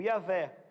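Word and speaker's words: Yahweh: Jeová e a velha a gente não sabe pronúncia certa se for transliterar yhwh como é que ele pronuncia isso que a velha é uma possibilidade Ok o nosso Deus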